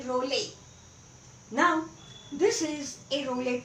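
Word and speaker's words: Reuleaux: french name french mathematician and pronunciation is not very easy to make out from the spelling well anyway it is simply rowley now this is a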